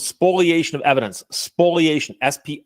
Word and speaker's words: spoliation: hurt my case it's called spoliation of evidence spoliation SP l i SPO not spoilation spoilation it's one of those things that people mispronounce pronounce misspell spoliation of evidence spoliation of